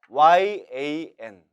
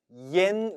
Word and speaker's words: yan: 주기만 하면 된다는 것이죠 주의할 것은 yan 으로 표기가 되기 때문에 이것을 자칫 위엔 으로 발음할 수도 있는데 이는 틀린 발음이 라는 것입니다 저와 함께 정확하게 읽어